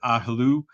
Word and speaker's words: Alilu: But Alilu, like Hulu, yes.